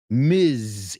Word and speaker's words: Ms.: MS period. Ms. Y se pronuncia Ms. ¿Ok? So voy a decir una y tú me dices cómo se pronuncia. MRS punto. ¿Cómo se pronuncia? Mrs. Very good. MS, Ms. Es una Z.